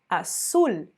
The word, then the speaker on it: azul: Em português a gente fala com o som de Z, azul, mas em espanhol, azul.